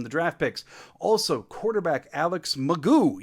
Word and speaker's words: McGough: Also, quarterback Alex McGough. Yeah, that's actually how you say it. I was right yesterday.